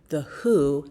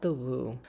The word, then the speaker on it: The Whoo: Please excuse the interruption, but the brand name is pronounced the Whoo, not the Woo.